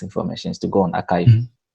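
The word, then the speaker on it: arXiv: mean like astrophysics information is to go on archive and okay in this archive is it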